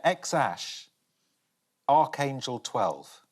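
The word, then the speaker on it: X Æ A-12: want to have a stab i had to pronounce that is it x-ash a-12 yeah x-ash archangel 12 musk this is what they've changed it to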